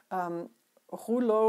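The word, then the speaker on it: rouleaux: the holo effect and I pronounced it the French Way who lo referring to a roll or a cylinder so imagine if I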